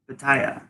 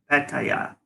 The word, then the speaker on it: Pattaya: a yeah Hector yeah Pattaya no fat tire so it's expensive and